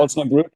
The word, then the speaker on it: Osnabrück: Is it Osnabrück? Is that how you pronounce it? Osnabrück, yes.